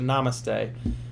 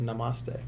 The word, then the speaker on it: namaste: And namaste. Thank you, Yuki Treats. I don't know why I like to pronounce it with the accent on the ma.